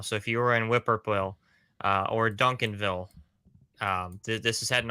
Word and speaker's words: Whippoorwill: Oh, Whippoorwill. Sure. Yeah. There you go. Okay. Whippoorwill. Now I know how to say it. Yeah. Yeah. No, it's the bird. The bird. It's the bird whippoorwill. Yeah.